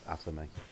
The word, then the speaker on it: athame: The correct pronunciation of the sacred knife or the magical knife is athame.